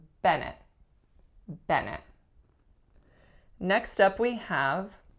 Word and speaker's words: Bennett: next up we have Bennett Bennett two syllables winner is on the first the sound that it makes is at on the first vowel and nut so a schwa on the second syllable Bennett Bennett next up we